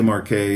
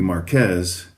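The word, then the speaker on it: Marqués de Riscal: I would typically say Marquet, even though the exact, that would be more like the French pronunciation as far as I know. The Spanish pronunciation would be Marquez, and the name of this vineyard is Riscal.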